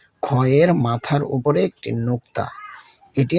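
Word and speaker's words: خ: খয়ের মাথার উপরে একটি নোক্তা। এটি আমাদের কণ্ঠনালীর শুরু থেকে আসবে। একটি গাম্ভীর্য নিয়ে মোটা করে বলুন খ।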